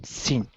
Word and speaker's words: scene: Scene. Mm-hmm. Without E? Yeah, so the E is silent, so scene.